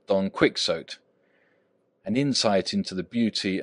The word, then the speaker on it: Quixote: p boop quixotic adjective absurdly chivalric like Don Quixote an insight into the beauty and Excellence of this incomparable adjective is unhappily denied to him who has The Misfortune to know that the gentleman's name is pronounced Quixote when ignorance from out of our Lives can